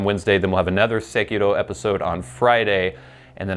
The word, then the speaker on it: Sekiro: Sekiro. And every syllable is basically emphasized the same amount.